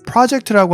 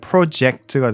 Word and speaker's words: project: project라고 하는 단어는 동사일 때는 project가 되고 이 강세가 뒤에 이음절에 붙고 그리고 명사일 때는 project가 돼서 이름절에 붙는다는 그 말씀을 좀 드리고 싶었고요.